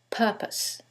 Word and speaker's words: purpose: However, in the first one, it's the second syllable that's stressed, and in the second one, it's the first syllable, and that changes the pronunciation completely.